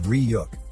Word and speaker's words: Ryuk: The creature comes out and tells Light that his name is pronounced as Ryuk.